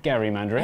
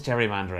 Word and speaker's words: gerrymandering: that was fun but Jerry mandering Gary mandering everyone says Jerry mandering everyone's wronger everyone's wrong serious consequences North Carolina in